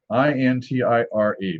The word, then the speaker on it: Intire: It says that it's a strong porter called Thrale's Intire, I-N-T-I-R-E, pronounced Intire.